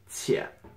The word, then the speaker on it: 且: This is a character by itself, and this is pronounced 姐.